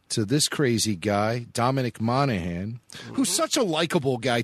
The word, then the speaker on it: Monaghan: All right, episode 9, actor Dominic and part-time Hobbit Dominic Monaghan. He's full-time. Monaghan? Yeah, he's full-time. Monaghan. The G is silent. No G in there.